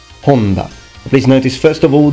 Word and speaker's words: Honda: and his name is Honda Honda please notice first of all the H is always aspirated in Japan so you need to pronounce it fully and this is actually